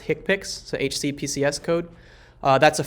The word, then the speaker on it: HCPCS: I work in health care I know it's pronounced hick pics so HCPCS code that's a five digit code